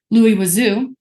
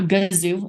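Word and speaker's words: Louis Goaziou: Antoine melli worked with Lou wazo who's also a French man um it's not gzu as many like to pronounce um Lou wazo was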